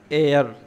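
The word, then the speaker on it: heir: उत्तर अधिकारी लिखा इसको ह से जाता है पर ह साइलेंट होता है हम इसको पढ़ते हैं एयर जैसे की ए आई आर वाला एयर और इसका मतलब होता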